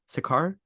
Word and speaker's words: Sakaar: Sakaar.